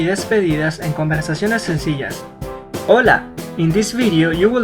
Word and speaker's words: hola: The most common greeting or saludo en español is hola. Hola means hello in Spanish. Try to pronounce hola, not hola.